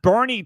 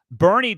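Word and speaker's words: Boerne: We've got Bernie Texas in the house. And thank you once again for the pronunciation guides that you are providing here on the show because Bernie Texas B O E R N E is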